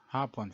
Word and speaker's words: hapon: or afternoon in english be careful not to pronounce hapon fast otherwise it would mean japanese dusk in the philippines